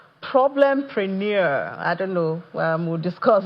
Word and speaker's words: Problempreneur: So, yeah, I mean, you pronounced it right, the PROBLEMPRENEUR instead of, entrepreneurship.